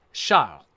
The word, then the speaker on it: Charles: of the Frenchman however he would have pronounced it shall or something like that child it's hard to do an R followed by an L in French if you're an English speaker so sorry anyone who